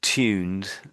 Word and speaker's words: tuned: So, the word tuned. So, the Americans say it one way, we say it another.